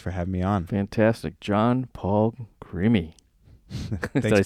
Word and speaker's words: Jon Paul Crimi: John Paul Crimi.